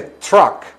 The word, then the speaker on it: truck: una troca una camioneta Ya ven que no se dice TR se dice Truck por esa pronunciación de